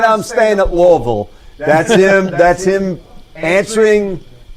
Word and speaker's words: Louisville: But I do want you to hear Louisville, the team he's currently coaching as of right now, played today.